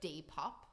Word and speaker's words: Depop: Have you guys heard of Depop?